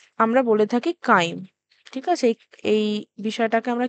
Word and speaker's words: chyme: এবার কাইমের প্রবেশ নিয়ন্ত্রণ করে, মানে এটা বেসিক্যালি যেহেতু CHYME হয় তাই এটা এখানে ট্রান্সলেশনে ছাইম দেখাচ্ছে, বাট ইটস অ্যাকচুয়ালি কি প্রোনাউন্সিয়েশন হয়? কাইম। এবার কি বলছে?